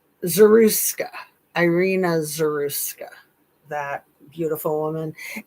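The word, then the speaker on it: Zarutska: Zaruska, Irina Zaruska, that beautiful woman.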